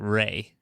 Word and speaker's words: Rhea: Yeah, but she pronounces it Ray.